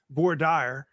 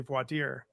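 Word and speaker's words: voir dire: you sit during the voi deer process or as a judge in Texas once called it boar Dyer um but it's really brought deer um pronunciations then and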